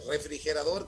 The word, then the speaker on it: refrigerador: Refrigerador es una palabra aguda sin acento porque tiene la mayor intensidad en la última sílaba y termina en una consonante que no es ni N ni S, ¿no?